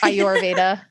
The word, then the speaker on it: Ayurveda: Ayurveda.